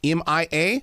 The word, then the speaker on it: Mia: My granddaughter pronounces her name Mia, M-I-A, but I've also worked with people.